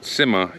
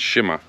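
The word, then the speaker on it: Cima: From what I'm told, it's actually Sima. So like a SH sound. It's not Sima, it's Shima.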